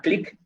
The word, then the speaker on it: Qlik: Hay una aplicación también que se llama Click, se escribe Qlik, Click Sense, y esa aplicación es gratis para estudiantes, ¿sí?